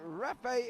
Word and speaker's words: Ralph: Rafe is how you pronounce Ralph. It's Irish. Really? I've always called him Ralph, and he's never said a single word to me, Alan Toon.